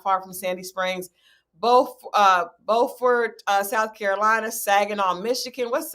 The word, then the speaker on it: Beaufort: It's pronounced Beaufort, South Carolina. Okay, it's Beaufort, South Carolina. I'm sorry. Adrian just made sure that I knew it was Beaufort, not both.